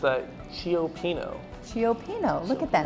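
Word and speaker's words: cioppino: It's a Chiopino. Chiopino. Look at that. How many syllables? Chiopino? Oh, that could be like four. Chiopino. Four. Right? Yeah, four. Okay.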